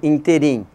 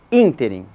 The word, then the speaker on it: ínterim: em ruim então como a maioria das palavras é oxítona nós tendemos a dizer ínterim mas a pronúncia correta é inter em intervalo de tempo outra expressão também muito